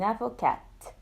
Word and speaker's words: avocate: But for the feminine, we pronounce it. And the E is silent.